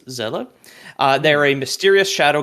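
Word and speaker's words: Seele: is spelled s-e-e-l-e and is German for soul which is why it's pronounced that way it's Zella uh they're a mysterious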